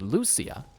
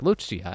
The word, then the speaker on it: Lucia: I just assumed it was pronounced Lucia. I mean, maybe you can pronounce it like that, but they pronounced it like Luchia. And I remember, you know, hearing that and going, "Oh, wow. That's how you say that name, apparently."